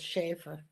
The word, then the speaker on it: Schaefer: and Lindsay Schaefer, or Shafar, how was her name pronounced? Shafar or Schaefer? I've always heard it as Schaefer.